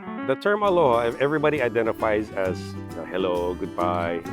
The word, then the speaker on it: aloha: care and respect you so the word aloha i pronounce aloha because it's broken into two parts alo and your your presence it